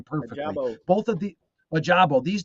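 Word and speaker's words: Ojabo: Ajabo.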